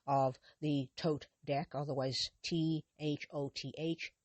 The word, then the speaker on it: Thoth: was the artist of the Thoth deck, otherwise T H O T H, pronounced Thoth, the Thoth deck, which she created with Aleister Crowley.